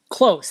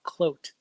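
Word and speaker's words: von Cloedt: German its German yeah blog on flute closed that that is actually the common pronunciation that I get from people but it's closed like Coach with an L quote so that throws not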